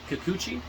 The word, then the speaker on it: Kikuchi: with Japanese names but huki Kikuchi I believe is how it's pronounced wrote the novel series